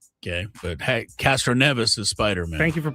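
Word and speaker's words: Castroneves: But Castro Neas is Spider-Man. Thank you for pronouncing it right.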